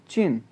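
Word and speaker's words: 进: Next word है JIN fourth tone के साथ, तो प्रोनाउंस होगा चिन, चिन, चिन, चिन।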